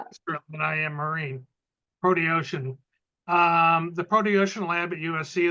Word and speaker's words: Proteocean: Protocean? Proteocean. Yeah, it's Proteocean. not intuitive at all. We should work on Not at that. You can tell So, I'm more yeah. terrestrial than I am marine. Proteocean.